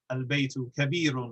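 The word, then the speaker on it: البيت: just give an example we have albeit we pronounce the lamb because the ba is sufficiently far away or different from the lamb whereas an ejmu the star we merge the lamb into the noon because the noon is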